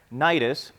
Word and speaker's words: Cnidus: So we had several days of slow sailing, and after great difficulty, we finally neared Cnidus. The sea is silent. I looked it up.